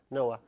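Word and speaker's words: Noah: طبعا احنا بنقول عليه نوح بالعربي بس طبعا ما حدش بيطلع الحاء دي خالص لا اوروبا ولا امريكا، فهي طبعا بتنطق نوا كلايبولد.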